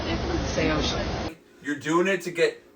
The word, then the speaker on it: Saosin: Yeah, can you pronounce it? Say ocean.